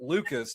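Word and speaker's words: Lukes: And Nathan Lucas, it's spelled Luke's Lu Kes. But I confirmed with the Toronto Blue Jay spelling or pronunciation guide, he pronounces it Lucas.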